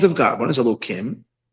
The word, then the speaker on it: Elokim: One is Elokim, which we pronounce Elokim, and another one is Havaya, Yud Kei Vav Kei, which we're now allowed to say its pronunciation.